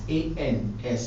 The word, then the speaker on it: ans: It is A-N-S, but we don't pronounce the S.